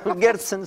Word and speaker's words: Gerson: ¿Lo pronuncié bien, Gerson? Sí, Gerson está bien. Se ve más complicado, o sea, se ve más complicado, pero suena fácil. Gerson, son dos E. Hay que unir dos E nomás, con hartas consonantes entre medio.